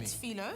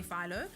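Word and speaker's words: filo: some um Foo pastry is it Foo or Pho people keep changing it up on me Foo it's Foo pastry Foo pastry I think the Americans say Pho then what you want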